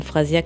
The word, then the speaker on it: Frasiak: Phrasiac, ça s'écrit Frasiak.